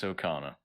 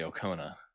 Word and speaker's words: Okona: outrageous okana the outrageous okana i see that name and i have to stop myself from pronouncing it incorrectly i know i always want to say okona right which is very